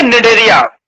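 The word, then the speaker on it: Cnidaria: निडेरिया की spelling में देखो आपको सी दिखाई देगा, पर वो सी जो है वो क्या है? साइलेंट है।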